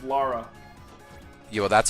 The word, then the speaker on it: Lara: Laura with a U. It's Lara.